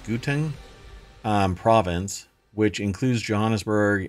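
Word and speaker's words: Gauteng: Water Management authorities from I think it's pronounced guten um province which includes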